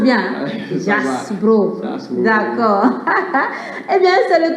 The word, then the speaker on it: Jaxbro: Je prononce bien. Jasbro.